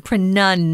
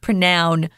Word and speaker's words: pronunciation: is incorrect wrong so listen pronunciation pronun not pronoun pronunciation how do you say that